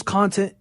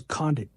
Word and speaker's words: Condit: But Nick Diaz, Carlos Content, Carlos Condit, right? Carlos Content. Bro, why do I keep mispronouncing his name? Carlos Condit.